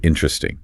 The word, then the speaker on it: interesting: Another classic is the word interesting. It is written as 4 syllables. Interesting. But in real-world application, the second syllable is completely elided. Exactly. It becomes 3 syllables.